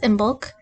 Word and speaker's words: Imbolc: I looked up the pronunciation because I didn't know how to say it, and the American pronunciation is Imbolc. Has a cool old Irish pronunciation, something like Imbolc.